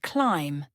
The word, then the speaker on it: climb: The letter B is silent in words like comb, thumb, and climb.